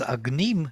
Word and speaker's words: agnim: in every word throughout if it is agnim you see the stress is on the second syllable then agneem will be